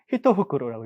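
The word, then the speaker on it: 一袋: 자, 일대가 있는데 이거는 히터후크로라고 읽습니다.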